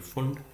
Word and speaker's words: Pfund: Here P is silent, so it is PFUND, Fund series.